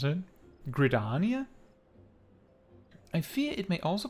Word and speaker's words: Gridania: gridenia that's it how would you like to pronounce it gridania i fear it may also prove dangerous however